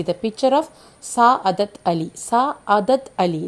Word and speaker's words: Sa'adat Ali: Sa'adat Ali, like that the pronunciation.